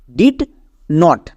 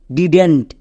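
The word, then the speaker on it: didn't: আমাদের দুটো ওয়ার্ড আছে, ডিড নট, ডিড নট। এবার একে যখন আমরা একসঙ্গে উচ্চারণ করতে যাব তখন এর উচ্চারণটা হয়ে যাবে ডিডেন্ট, ডিডেন্ট, নট ডিড নট। একে আমরা একসঙ্গে উচ্চারণ করব ডিডেন্ট।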